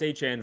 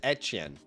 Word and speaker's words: Etienne: I'm not even 100% sure if it's Etienne He says Etienne I think. Yeah. Etienne it's like the French The French pronounce it like Etienne is like a